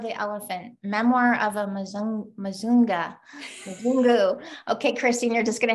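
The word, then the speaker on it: mzungu: the color of the elephant memoir of amazon mazunga okay christine you're just gonna have to tell me right now how to pronounce it it's mizungu and that's kind of a typical way at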